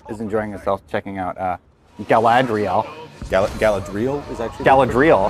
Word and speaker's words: Galadriel: enjoying herself checking out Galadriel Gallup Galadriel is that Galadriel eccentrics graduate is it you know what I nailed it all right this first pronunciation was like hey it's like dreidel yeah it's like gerade